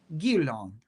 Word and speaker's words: Guerlain: Guerlain. That's how it needs to be pronounced.